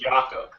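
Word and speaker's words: Jakob: in an interview and they said you know Jacob and he said um no it's it's pronounced yakob and he was very nice about it but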